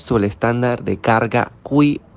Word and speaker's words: Qi: Primero hablaremos sobre el estándar de carga QI, el cual se pronuncia Qi, y es el más popular.